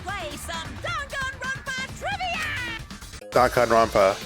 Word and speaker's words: Danganronpa: right time to play some Donan RPA trivia Donan RPA H that's how you pronounce it the biggest most awful most tragic